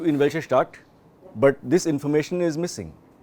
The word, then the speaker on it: Information: Diese Information, same spelling as information, but pronounced Information.